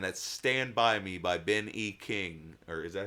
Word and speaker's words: Ben E. King: me chills, and that's Stand By Me by Ben E. King, or is that how you say it? Yes. Ben E. King?